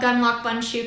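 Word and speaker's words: Gundlach Bundschu: shared with me that the best way to remember how to actually pronounce it is to picture a gun a lock a bun hopefully a cinnamon bun in a shoe so just a little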